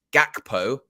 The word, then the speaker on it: Gakpo: going to talk about Cody gakpo hard G I've learned that as